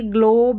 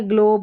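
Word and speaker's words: globe: पढ़ते हैं, ठीक है, ग्लोब। और लास्ट में जो ग्लोब में ई आ रहा है ना, इसका उच्चारण नहीं होता, ये साइलेंट रहता है।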